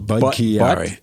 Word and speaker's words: Budd-Chiari: It's called Budd-Chiari disease. Wait, more acronyms. More syllables? More syllables. Budd-Chiari.